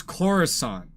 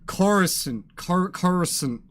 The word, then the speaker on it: Coruscant: pronunciation of Coruscant like everybody in the movie says Coruscant in this game everyone says chorus and Carson chorus and sin instead of science it's a big difference and it annoys me